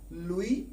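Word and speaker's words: Louis: Scientist जिनका नाम था लुई पाश्चर। इसमें लुई में एस साइलेंट है, लुई पाश्चर ने, और यहां पे टी ई इनका प्रोनाउंसिएशन क्या होता है, CH।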